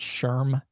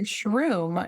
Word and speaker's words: SHRM: No, you said it correctly, which most people say SHRM. Yeah, most people think it's like mushroom. Um but SHRM is Society for Human Resource Management.